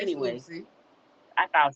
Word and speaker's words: Lucie: See, I said Lucy, but they told me it was Lucci. It's Anyway, Lucy.